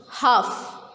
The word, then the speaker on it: half: Half. We will not pronounce L in it.